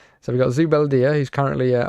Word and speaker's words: Zubeldia: Zubeldia. That's how I think you pronounce it. So we've got Zubeldia, who's currently a -1 because obviously he's out of position.